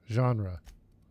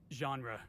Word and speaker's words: genre: I I think not yeah genre Felix it's pronounced genre genre right thanks I read that word in a